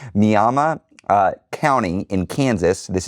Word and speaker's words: Miami: Karen with Indivisible Mama, it's not Miami. It's spelled Miami, but it's not pronounced Miami. Mama uh County in Kansas.